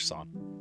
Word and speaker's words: sauna: The Finns are basically the holy authority on all things sauna. It's actually pronounced sauna or sauna, but I'm going to say it my way because I'm American and that's how we say it.